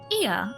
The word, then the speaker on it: Ia: When the vibration of vocal cords was still required to convey our thoughts and intention, Ia, I believe, was the pronunciation used when referring to our people.